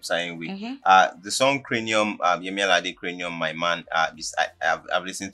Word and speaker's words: Yemi Alade: Like, he was trying to pronounce Yemi Alade, say Yemi Alade Alade.